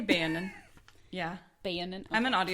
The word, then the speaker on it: Beonin: be be do you say beonin or beonin I I always say be I would say Bonin yeah Bon I'm an